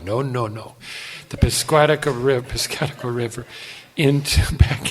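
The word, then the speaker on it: Piscataqua: piscatqua river you got to learn how to pronounce all this stuff pis kataka no no no the pcaa ri pcaa River into back into New Hampshire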